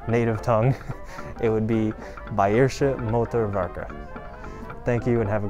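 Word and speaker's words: Bayerische Motoren Werke: works but in native tongue it would be bairsha motorvaca thank you and have a great day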